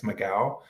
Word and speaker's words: McGough: I think her last name is you pronounce it McGough. I think it's McGough. It's McGough.